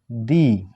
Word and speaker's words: the: আবার আয়রন, আইটা কি, এটা হলো ভাওয়েল, তা ভাওয়েলের পূর্বে আমার উচ্চারণ কি হবে দি।